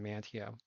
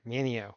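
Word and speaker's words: Manteo: sheltered area out here in mantea or Mineo is the way the locals say it I gotta get that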